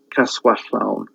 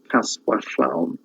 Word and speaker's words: Caswallawn: Okay, that's the son of Branwen, and the king of Britain at the time after Bran's demise is Caswallawn. Okay, Caswallawn.